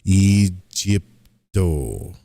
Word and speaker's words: eipto: The correct pronunciation of this mantra is eipto. Eypto. I don't know if I'm doing the I right. I know I'm doing the e and the o right.